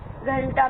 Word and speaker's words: घंटा: घंटा में अणय की ध्वनि आ रही है, दंत में न की ध्वनि आ रही है, पंप में म की ध्वनि आ रही है।